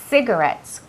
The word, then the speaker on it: cigarettes: Cuidado con la pronunciación de esa palabra. No es ci, es C. La C y la I siempre tienen un sonido que es como si fuera una S, ¿vale? Cigarettes, como city, ¿vale?